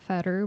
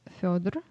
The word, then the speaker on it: Fyodor: for Feder, it's not Feder, but it's Fyodor.